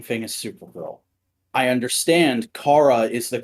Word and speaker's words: Kara: it's the same thing as supergirl i understand kara is the correct pronunciation i grew up saying kara cause the cartoon i watched did i'm not